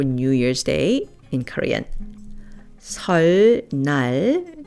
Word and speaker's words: 설날: 설날, New Year's Day, is pronounced 설날.